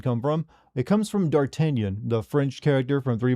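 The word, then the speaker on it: d'Artagnan: But uh the name Dartenion, you notice I don't pronounce it as Dartanian.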